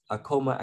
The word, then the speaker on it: Akoma: we visit a school it's actually pronounced it uh correctly it's a como akoma academy uh so i